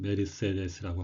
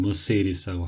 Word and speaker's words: Mercedes: 우리말로는 메르세데스라고 하고요. 독일이 원산지인 메르세데스 이렇게 독일어에 각각했습니다. 영어 발음은 머세디스라고 하고요.